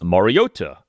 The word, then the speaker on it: Mariota: Taro and Collinsworth on Sunday night for much of the game said Moriota with the T pronounced like a T.